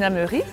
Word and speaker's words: Hameury: amigos, estamos con Céline Jaumery. ¿Así es como se pronuncia? Casi, casi. Casi, casi. ¿Podría, por favor? Céline Jaumery.